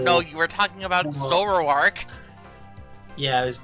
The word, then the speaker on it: Zoroark: No, it's definitely me mispronouncing it and making it like two syllables instead of three or four.